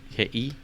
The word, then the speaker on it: Kihei: Kihei. Kihei. Because you pronounce all the volumes.